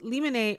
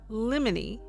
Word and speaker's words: limine: The word limine, pronounced limine or limine, and as you'll see I lean limine, is Latin for at the threshold.